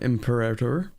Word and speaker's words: Imperator: Imperator, even though I think people are supposed to pronounce it as imperator, but I'm sorry, it's already too anglicized in my brain, so I'm not changing it.